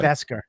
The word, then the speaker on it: Beskar: Beskar. It's Yeah. See? Yeah, it's Also, Beskar. you pronounce it Beskar.